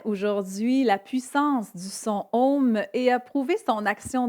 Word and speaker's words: Om: Effectivement, quand on le prononce, on commence par un A qui vient se transformer en haut pour aller vers le OU et se terminer avec le M.